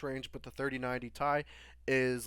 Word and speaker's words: Ti: and the geforce rtx 3090 ti or apparently it's called pronounced tie that we all learned